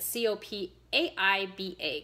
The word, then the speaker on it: copaiba: this one is called copaiba and co Pai ba copaiba and I love hearing